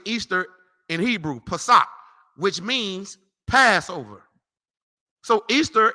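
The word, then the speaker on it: פסח: correctly translated Passover man you want to know how you say it in Hebrew Passat which means Passover read it again from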